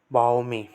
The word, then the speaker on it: bonhomie: आइए बढ़ते हैं हमारे अगले वर्ड की तरफ, जो है बाहोमी। यहाँ एक एन साइलेंट होता है इस वर्ड के अंदर।